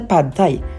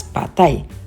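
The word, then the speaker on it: pad thai: mga foods nila especially the pad tie or correctly pronounced as patay one of the most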